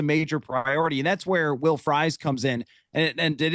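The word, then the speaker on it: Will Fries: And that's where Will Fry comes in. And and it is pronounced Fry, by the way, which is awesome for an offensive lineman to have that as his pronunciation.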